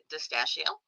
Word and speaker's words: Distachio: So first we have Ellie Distachio. It rhymes with pistachio, if you're trying to figure out how to say her name, Distachio.